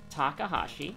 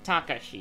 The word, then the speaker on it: Takashi: we have strength charisma takahashi or takasi or takashi takashi that's that's the word that's how you say it uh second enemy